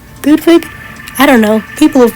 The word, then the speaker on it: Ludwig: Ludwig, Ludwig, I don't know. People have been saying both. For the sake of this video, I'm just going to say Ludvig because that's how you pronounce Beethoven's name.